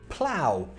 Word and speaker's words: plough: And with that same pronunciation, plough.